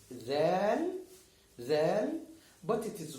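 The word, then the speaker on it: دال: This is dal, and it's pronounced da.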